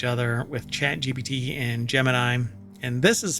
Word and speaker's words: Gemini: already racing each other with chat gbt and Gemini and this is pronounced Gemini but the space uh the the the um astronaut Space Project thing what do you call it I don't know anyway it was jimini which is a weird pronunciation for it but